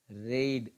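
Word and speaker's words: read: है और पढ़ने का रीड रीड रीड किस्मत अच्छी है कि की स्पेलिंग से होती है और उच्चारण करते हैं है वह रेड कि अगर मैं इसी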